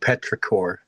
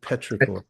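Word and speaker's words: petrichor: It's actually called Petraore is what that's called. I'm looking it up. Yeah, it's my new word for the day. Petraore.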